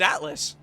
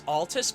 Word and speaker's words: Altus: I thought it was Atlas. It's Altus Plateau. Like Altus Plateau.